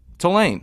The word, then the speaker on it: Tulane: Tulane. You can hear that? You said Tulane. Tulane. Tulane. T-O-O. This is what the phonetic spelling is T-O-O-L-A-Y-N. Tulane. I'm Say it. pronouncing it. Tulane. Two. Not ta.